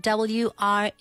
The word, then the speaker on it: wreath: But we spell it W-R-E-A-T-H. Yeah, wreath. Gruath. Pero se dice wreath. A wreath. Wreath. Yeah. La W muda.